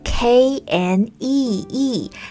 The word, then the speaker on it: knee: 这里还可以注意 knee 膝盖这个单词，虽然呢拼写是 K-N-E-E，但是呢开头的这个